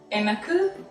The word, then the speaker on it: எனக்கு: Um, Enaku pasikida. exactly. So Enaku pasikida. yeah. So எனக்கு is for me. Mhm. Okay, for me. So it's எனக்கு Mhm. பசிக்குது. Enaku pasikida.